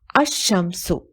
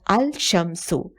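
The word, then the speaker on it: الشمس: letter as a result the consonant at the beginning of the word is doubled when I'll is prefix to Sampson it becomes a sham so it is pronounced as a sham sue not al sham sue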